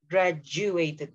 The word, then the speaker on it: graduated: With the J sound in the middle. Graduated.